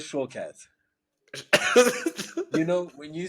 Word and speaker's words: Shawkat: It's spelled Shawkat. Aaliyah Shortcat. Shawkat. Shortcat. But Aaliyah Shawkat.